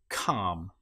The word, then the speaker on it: calm: Another one that you might come across is when you have L M together. An example might be palm. In this case, the L you will notice is not pronounced at all. Palm or calm.